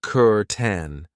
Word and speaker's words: curtain: I know it looks like cur, but we pronounce it kuren and this is something that you will find in most Australian homes.